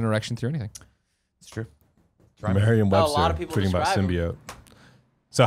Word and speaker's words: symbiote: it upsets you want to hear it said symbian this is how it's spelled yeah there's an Owen sim by oh hey I understand that but it's been me I'm getting really confused now symbiote its symbiote that's what it was Symbian sim